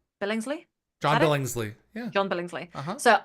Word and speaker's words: Billingsley: Billingsley.